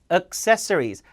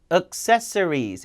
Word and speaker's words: accessories: 자, 액세서리가 아니라 accessories. 세 강세에 있으니까 앞에는 뒤에도 쓰. accessories 이렇게 읽어야 돼요.